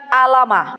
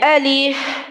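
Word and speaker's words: الم: baca Alif Lam Mim itu bacanya bukan alamah ya tulisannya kan alif lam dan mim Tapi bacanya Alim Ibu baca Alif Lam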